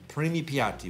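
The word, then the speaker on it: primi piatti: it wrong it's preemie preemie PAP Odyssey PT preemie Piatti which means first course so technically it's it's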